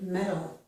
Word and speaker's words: metal: So each of these symbols, this, and this, represent the alveolar tap sound, or that quick d sound, okay? Again, that is the sound that we are making when we pronounce this word metal.